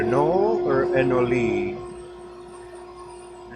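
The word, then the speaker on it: anole: Is it a knoll or a noli? A noli is how I heard somebody pronounce it yesterday.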